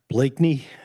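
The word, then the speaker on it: Bleakney: Hello, my name is Blakey.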